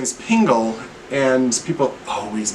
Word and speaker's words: Pingel: that's funny because my name last name is Pingel and people always mispronounce it I always say tingle Dingle Pringle Dingle single tringle are you a